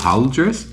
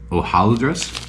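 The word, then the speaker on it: hojaldres: I don't know how if you pronounce it like Spanish h o j a l d r s ho AAL dress is probably how it's Filipino pronouncing the Philippines but in Spanish it would be o ohal ohal dress I'm I'm American I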